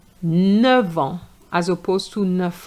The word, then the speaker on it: neuf: So you're going to say neuf. You're going to pronounce the F But if you have nine in the context of the age for example, you're going to say neuf ans.